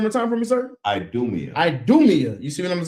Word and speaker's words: Idumea: And it says right here, pronounce it one more time for me, sir. Idumea.